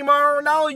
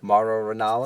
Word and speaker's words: Mauro Ranallo: You want to come at me, Mauro Ranallo?